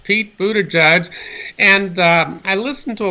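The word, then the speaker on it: Buttigieg: Budaj who's really ahead is that how you pronounce mr. Buddha judges name or how do you say I say it is Buddha judge Pete Buddha judge and I listen to a lot of people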